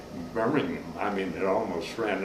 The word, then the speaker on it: Birmingham: he almost just said birmingham i mean it almost ran all into one extended syllable yeah exactly no ham on the end right but that was